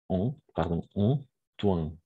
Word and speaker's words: Antoine: Toujours OI, on va prononcer comme un roi. D'accord? Donc, Antoine.